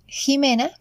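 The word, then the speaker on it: Ximena: It is also worth saying that long ago, this letter took the sound of a J. So some places like Mexico still keeps that pronunciation. Actually, names like Jimena have taken that sound too.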